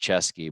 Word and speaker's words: Ceschi: I'm gonna spell it because it's not CH. It's CESCHI. Pronounced Chesky, but he's saying it wrong.